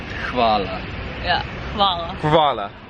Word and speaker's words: Hvala: you, which I've tried to do already and butchered already. So, first of all, Peter. What is it? Hvala. Hvala.